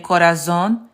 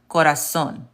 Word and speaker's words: corazón: Instead of saying instead of saying corazón, it's actually pronounced corazón with an S.